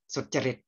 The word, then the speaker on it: สุจริต: แปล ว่า ความ ประพฤติ สุจริต เค้า จะ อ่าน ว่า สด ใจ สุ จริต สุจริต อะ ใน ภาษา บาลี ฉะนั้น ความ ประพฤติ ที่